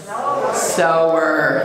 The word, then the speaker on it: sower: our blessing and just a reminder that last word in the first line is pronounced sower thank you i believe